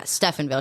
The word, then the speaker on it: Stephenville: bad boy type so she grew up and Stephenville is that how you say it yeah Stephenville she grew up yeah she grew up there